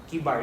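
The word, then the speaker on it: Chebar: Sina Daniel sa Babylonia sila nagtungo but sina Ezekiel nagtungo lang sila doon sa river Kibar. Chibar. What's the proper pronunciation? Kibar, right? Kibar. Yan. Kibar.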